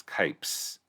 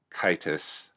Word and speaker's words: Kipess: I think it was calling Kipess, but it's Kipess. Kites. With kites, not Kipe. It's not pronounced Kitus. It's Kipess. All right, so we have home in the...